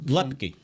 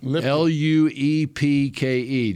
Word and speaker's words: Luepke: How do you say his name? You got from Lepke. Lipke. Luepke. Luepke, just like it's spelled.